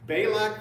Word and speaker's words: Balak: Who says Bailac? I don't want to annoy everybody in this room. Does Is there a right way to say it? Bailac.